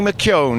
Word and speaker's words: McKeown: Well, I've just grabbed Johnny McKeown. You have to pronounce that as though it's got a W in it, and I hope I've got it right.